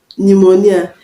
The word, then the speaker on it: pneumonia: know is not pronounced pneumonia pneumonia the p in pneumonia is not pronounced covered the p in